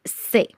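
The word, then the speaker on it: ces: So pronunciation is gonna be ce, set, set feminine, which is double T and E, and then plural is say.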